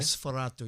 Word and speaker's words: Nosferatu: Try that again. Yeah. All right. Nosferatu. You got to say it like that too. You know? Yeah, you have to say it Nosferatu.